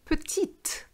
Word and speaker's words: petite: you have petit and petite so when you have the e for of the feminine form in petite you have to sound the tea je pat petit but